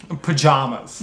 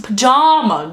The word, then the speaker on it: pajamas: amy man song uh how do you pronounce the second syllable of pajamas uh with the vowel in jam with the vowel in palm palm jams or pajamas pajamas or pajamas i'm obviously